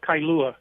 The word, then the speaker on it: Kailua: It's called Kailua.